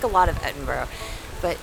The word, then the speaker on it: Edinburgh: how they spell it, it looks like Edinburgh. It does to our American. But it's not. It's Yes. Edinburgh. Edinburgh. Edinburgh. They say it really fast and low.